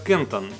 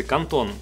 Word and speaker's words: Canton: поводу канон или канон вообще англичане и весь англоязычный мир говорят Кантон а немцы Кантон поэтому можно и так и эдак оба варианта в целом правильные никто вас не накажет за любое из этих произношений Итак флагманские Taunus это